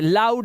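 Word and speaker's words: loud: अब ये लो नहीं है, लाउड है। आ की आवाज आ रही है बट होनी नहीं चाहिए।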